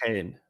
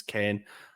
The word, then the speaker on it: Kean: him it's technically pronounced no it is actually pronounced Kane no it's Moy Kane that is actually how